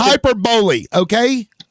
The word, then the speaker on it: hyperbole: Yeah, No, that's He's gonna not pronounce hyperbole. it That just means that hyperboil. you lost the debate. It's Legend. hyperbole, okay?